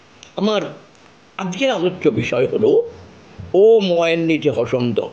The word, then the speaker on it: ওম: নয় সৃষ্টির প্রতীকের ধ্বনি ওম এর প্রকৃত উচ্চারণ হলো ওম প্রশ্ন হতে পারে ওম